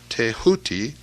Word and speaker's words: Thoth: the ibis-headed scribe of the gods Thoth, pronounced Teahuti, the so-called emerald tablet